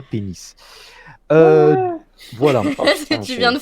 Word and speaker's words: PEN15: Donc le la série s'écrit Pen 15 en fait, mais le logo de la série ne laisse aucun doute quant au jeu de mots qui qui fait que l'on peut le prononcer, on peut prononcer ça pénis.